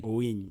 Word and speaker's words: Owiny: Maybe to remind those who are watching us, you're live with Simon Chris Makanga, and I'm speaking to Hakim Owiny. Am I pronouncing your name rightly? Owiny.